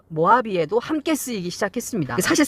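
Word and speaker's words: Mojave: m5 jh v 입니다 이제 이가 발음이 h 로 발음이 되면서 모하비 라고 있지만 실제로 쓸 때는 뭐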